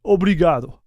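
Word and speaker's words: obrigado: support buddy appreciate it obligado this is how you say it obligado thanks man okay so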